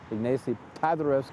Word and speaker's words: Ignacy Paderewski: That's right, Arthur Rubinstein from Łódź, and he follows in the tradition of Chopin as a pianist, of Ignacy Paderewski, Ignacy Paderewski, let me say it right, the famous Polish pianist of the early 20th century, and Arthur Rubinstein later.